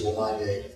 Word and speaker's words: Lamagna: It's a tough way to say Miller, but it's Lamagna.